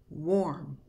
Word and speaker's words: warm: It is pronounced with the sound of OR. Here are some examples of words with the letter AR that produce the OR sound. Warm.